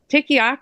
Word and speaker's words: Tikioc: and like, oh, just, So Tikioc is how you pronounce it. I completely butchered it the first time I ever said it.